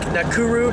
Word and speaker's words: Nakuru: was completely different today we're headed to lake nakuru national park they say right I said it